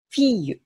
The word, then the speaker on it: fille: のが神父らずにー l の発音なんですね例えば女の子という意味のこの単語これフィーユと読むんですだから今まで